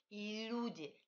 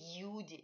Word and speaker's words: люди: Et il faut palataliser ce L. I, toucher le palais. I, et après prononcer OU de manière très délicate. Люди, ne glissez pas Y, ne dites pas les люди, dites люди. Люди veut dire les gens.